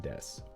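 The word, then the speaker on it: です: and say you're desus, and especially don't go desu or any like kind of like desu. Just say des. Just des it. They cut off the u sometimes. The u is silent at the end of a lot of words, not verbs.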